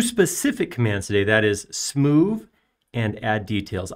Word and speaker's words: Smoove: commands today that is smooth and add details i did not mispronounce that smoo s-m-o-o-v-e it's a combination of smooth and move you'll see how it